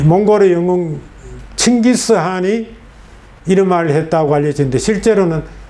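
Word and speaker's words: Chinggis Khaan: 칭기스한 KHA는 이걸 이렇게 표기하지만 읽을 때는 K가 묵음입니다. 묵음이래요. 소리 나지 않습니다. 그래서 한 이렇게 해요. 한 이렇게 해요. 한이란 발음을 강하게 내지. 칭기스한 이렇게 내는 거예요.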